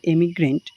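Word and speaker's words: emigrant: এবং অপশন বিতে রয়েছে ই দিয়ে রয়েছে, এটার উচ্চারণটা অনেকটা এমিগ্রেন্ট। ঠিক আছে, এমিগ্রেন্ট আর ইমিগ্রেন্ট।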